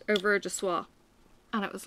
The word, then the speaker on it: soie: So yeah, Au revoir à soie is, and it's spelt S-O-I-E.